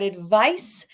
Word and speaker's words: advice: We've got two words that are not exactly pronounced the same. We've got advice and we've got advise.